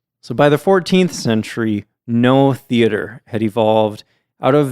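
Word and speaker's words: Noh: I had no idea, though, that they had all these masks.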